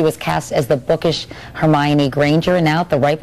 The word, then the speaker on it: Hermione: many different interpretations like oh um Hermione uh homie won but now I guess now I guess because of the movie everyone knows how to say her name and Hermione like Emma Watson is growing up and I